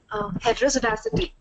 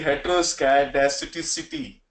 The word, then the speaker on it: heteroscedasticity: Heterozydicity. Heterozydicity. Sorry. Heterozydicity. No, no, Heterozydicity. it's no. It's actually heteroscedasticity, something like that.